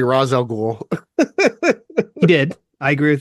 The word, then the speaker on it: Ra's al Ghul: Alfred, the pronunciation of that woman in Begins had it right. It's Ra's al Ghul.